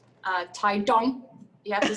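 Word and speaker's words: 台東: So my mom would be from a place called Taidong. You have to say it like that. Okay. Taidong. No, it's more emphasis on the D. Taidong.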